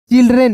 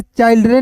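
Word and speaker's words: children: चिल्ड्रन इसे चाइल्डन नहीं पढ़िएगा। इसे क्या पढ़ेंगे दोस्तों? चिल्ड्रन इन द ओ आर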